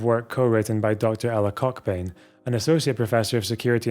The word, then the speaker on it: Cockbain: Ella Koch bein an associate professor of security in crime science at the University College of London I know her name is actually pronounced Cobain but I'm sorry we're not